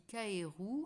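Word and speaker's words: かえる: La grenouille, qui se dit kaeru en japonais, est un animal important au pays du soleil levant. Son nom se prononce comme le verbe rentrer.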